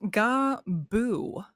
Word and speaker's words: Gabu: it's pronounced Gabu.